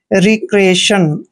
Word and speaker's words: recreation: दोस्तों, आर का उच्चारण रे करते हैं, ई को ई की मात्रा पढ़ते हैं, सी को हमने कै पढ़ना है, आर को रे पढ़ते हैं और ई को ई की मात्रा पढ़ते हैं। ए का उच्चारण हमने ए लिखना है, TION को शन पढ़ते हैं।